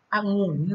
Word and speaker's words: องุ่น: เอก องุ่น นะ คะ องุน ม้ เอก องุ่น นะ คะ เรา จะ อ่าน แบบ นี้ นะ ออ ง อุ น อะงุ่น ไม้ เอก องุ่น ค่ะ ต่อ มา นะ